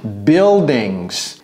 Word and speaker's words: buildings: voyez en ville English buildings et vous voyez comment je prononce ça je n'ai pas dit Bull j'ai dit bu buildings vous pouvez mettre un